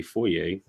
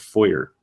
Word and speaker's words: foyer: the foyer and yes I say foyer because that's how you say it it's not foyer okay so let's just